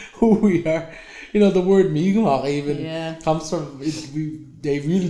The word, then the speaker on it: Mi'kmaq: less Micmac, but more Mi'kmaq. Yeah. And then and now that's our politically correct term now, because when you say Micmac, it's kind of like, you're that's not the right way to say it because I'm not Micmac,